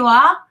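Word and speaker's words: は: Yeah, it's written ha, but they say wa.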